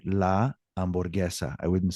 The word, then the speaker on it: hamburguesa: Now, if I said something like hamburguesa, that starts out with the sound ah, but I don't say hamburguesa. I say hamburguesa.